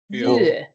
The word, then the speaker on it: vyö: Vyö. Vyö. V-Y-O. V-Y-Ö. I write it in the chat box, and you pronounce it vyö.